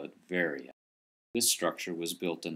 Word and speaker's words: Veria: Or the way the Greeks say it is Veria. Veria, sorry.